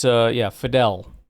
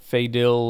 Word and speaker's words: Fidel: Fidel Diggs is, or Fidel or whatever. It's, Fidel. Fidel Diggs, not Fadil or Fadil or anything like that.